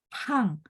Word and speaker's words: 胖: Kalau pang, P baca PH. Dan teman-teman ingat, oh iya ya, P itu dikotakin yang di menurun ke bawah sama Laoshi. Berarti bacanya harus ada angin.